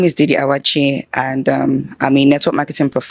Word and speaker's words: Awachie: How do you pronounce that? Awachie, yeah, you got it.